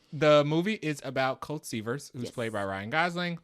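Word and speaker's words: Seavers: Is it Severs or Severs? I think it's Severs like beavers.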